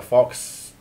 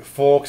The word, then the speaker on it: faux: me he is the epitome of a red fox to me I with little blues for a bit of pizzazz I say and plus orange and blue go really well together I like plan words I know forks is mentally pronounced fo and it means fake